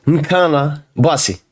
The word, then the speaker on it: Nkanabassi: Junior Nkana Basi. Was my pronunciation right?